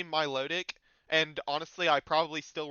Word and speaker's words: Milotic: He pronounces it Milotich. He claims it's like I don't know French or something, and says that the correct pronunciation should be Milotich.